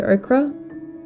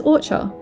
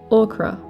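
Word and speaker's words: ochre: And in my head, I read it as orcher, which is definitely not how you pronounce the word. So, I was close. It's yellow ocra.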